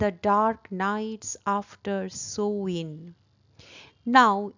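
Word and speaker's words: Samhain: the dark Knights after সোইন নাউ এস এ এম এইচ এ আই এন উচ্চারণটা হবে সোইন এটার বিষয়ে তোমাদের টেক্সট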